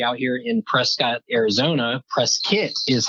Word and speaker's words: Prescott: Prescott is how it's pronounced by the locals. Everybody else says Prescott. But if you ever visit, say Prescott.